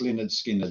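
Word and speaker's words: Lynyrd Skynyrd: which was very cool but yeah pronounced Leonard skinnard is um he my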